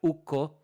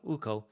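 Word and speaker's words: Ukko: the thing also like in Finnish language is that a double consonant is pronounced like it's hyphenated so so even if you see 2ks you're not going to be like oh uko it's no it's it's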